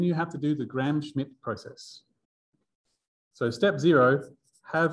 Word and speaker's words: Gram-Schmidt: I don't think there's a D. I don't know how many letters, silent letters there are in Gram-Schmidt. It is DT, damn it. All the silent letters. The M is silent too.